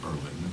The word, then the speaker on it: Berlin: They pronounce it Berlin. It's spelled like Berlin.